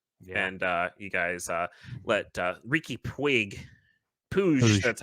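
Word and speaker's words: Riqui Puig: And you guys let Ricky Puig, that's how you say it.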